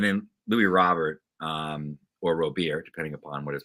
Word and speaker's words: Robert: actually he was like it's actually pronounced Robert I believe that's it